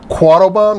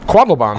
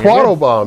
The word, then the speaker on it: Quattlebaum: this has been quad bomb did I get it right quaddle bomb quaddle bomb there we go see I can do German you're good man this